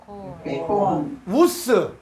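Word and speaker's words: οὖς: 자, 호, 에콘, 에콘, 우스. 네, 이중모음에서 요거는 오이스가 아니라 이중모음에서 이건 우 발음이에요. 그래서 우스.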